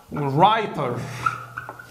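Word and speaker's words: writer: الدبليو ار بتتنطق ر، الدبليو هنا ما بتتنطقش، زي كلمه ايه؟ رايت، رايتر، خلاص.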